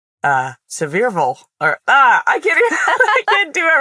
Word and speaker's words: Sevierville: How do you pronounce it? Sevierville. I don't know. It looks like Seaverville outside of Pigeon Forge. And then you show up and everyone's like, Sevierville.